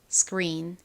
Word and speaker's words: screen: 참고로 S의 바로 뒤에 키읔 소리가 올 경우 크리가 아니라 끄처럼 소리가 나는 경향이 있어요. 그래서이 단어를 한국식으로는 스크린이라고 쓰지만 미국식 원어 발음으로는 스크린이 아니라 스크린스크en 이렇게이 C 부분이 좀 세게 발음이 납니다.